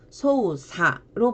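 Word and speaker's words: 操作: 그리고 조작할 때도 소우사로 발음을 하고 보통 음독이 두 개인 경우에는 주로 한쪽을 많이 쓰고 어쩌다 예외적으로 하나를 또 다른 발음으로 많이 합니다.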